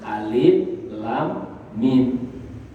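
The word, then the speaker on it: الم: Jadi hadirin sekalian, kalau kita membaca Quran kemudian awal suratnya itu dimulai dengan huruf-huruf hijaiyah, maka bacanya dengan huruf hijaiyah itu alif lam mim. Dia bacanya alif lam mim.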